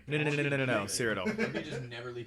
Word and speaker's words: Cyrodiil: It's Only it's Cyrodiil. only in Cyrodiil. Say it right. No, Cyrodiil.